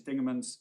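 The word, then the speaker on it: Dingemans: Of course, it's correct to say my learning fan is going to tell you Lord Justice Dingerman's am I pronouncing that correctly?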